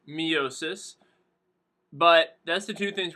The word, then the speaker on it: meiosis: Mitosis and meiosis. Or for here, I'm going to pronounce it miosis.